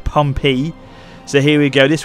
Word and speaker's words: Pompey: I'm pronouncing it correctly people have been telling me already it's pronounced pompy so here we go